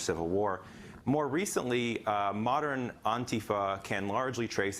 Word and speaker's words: antifa: antifa the the emphasis is on the first syllable and it's pronounced more